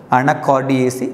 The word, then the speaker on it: Anacardiaceae: The family name, pronounce the word, Anacardiaceae.